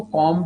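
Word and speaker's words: comb: के अलावा सर इसको कॉम जेलीस भी बोला जाता है। कॉम जेलीस कंगा कॉम मतलब कंगा होता है कि नहीं होता? कॉम जेलीस बोलते हैं इनको सर कॉम जेलीस बोलते हैं। बी साइलेंट रहेगा।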